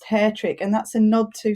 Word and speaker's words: Hattrick: umlaut over the a that would really actually pronounced hair trick and that's a nod to that the agencies